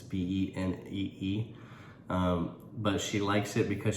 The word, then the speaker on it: Benee: It's either Benny or Benee. It's Benee.